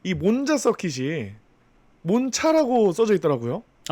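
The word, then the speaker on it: Monza: 그렇게 부르는게 맞는데 원래 몬차라고 부르는게 맞는데 우리나라 또 문화상 그 현지 발음으로 부르는게 편하다고 음. 이제 그대로 써져 있는 Z를 자라고 발음해서 몬자라고 부른다고 합니다.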